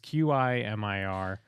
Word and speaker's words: Qimir: I thought it was a little bizarre, although maybe it's hinting that there's more for the character of, is it Kimir? It's Qimir, who I love from...